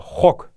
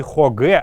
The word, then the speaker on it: хокк: слово на сегодняшний день это слово хокк не хогэ а именно хок хокк хок Но хок это односложные слова и их нужно так произносить хокк это мусор хогинсав